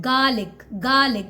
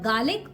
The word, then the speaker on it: garlic: one thing in mind, because we are working on our Indian pronunciation, so we do not need to pronounce mid r, so just call it garlic. But if you're working on your American pronunciation then call it garlic. So either you can go for garlic or you can say garlic, both are correct.